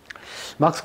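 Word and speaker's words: Marx: 그리고 실제 발음이 마크스에 가까워요. 마크스. 예. 마르크스라고 절대 있죠. 마르크스라 하면 독일 사람, 미국 사람 하나도 못 알아들어요.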